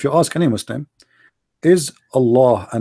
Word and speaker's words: Allah: You say Allah, the H is really strong.